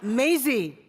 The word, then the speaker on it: Mazie: last name, and then he basically butchered my first name. It's Mazie.